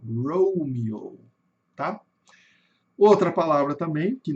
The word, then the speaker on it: Romeo: Por isso que fica rouo, romio, né? O e com som de i e dois longos. aqui um ó longo e outro ó longo no final Romeo.